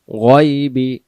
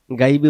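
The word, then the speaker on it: الغيب: আইন জবর আলিমুল গায়বি, গায়বি গাইবি উচ্চারণ হবে না, মতে মোটা। গইন জবর গ উচ্চারণ হবে, গা হবে না।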